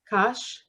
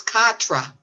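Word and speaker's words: quatre: How do you say it? Q-U-A-T-R-E. Kosh? It's Katra, but Kak. that would be in English. In French, it's Oh. Katra. Kak.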